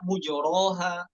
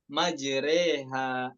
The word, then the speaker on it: مجريها: Yang lain, riwayat lain dibaca mujoroha, ya Hafiz dibaca majreha. Majreha bisa hukumnya bisa disebut juga imalah kubro ya. Majreha, majreha tumalu fathatur ra ma bainal fathah wal kasrah.